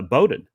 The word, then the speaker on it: Bowden: sometimes you see well sometimes you see like the Bowden family b-o-w-d-e-n sometimes you'll see that pronounced uh boating yeah and so I'm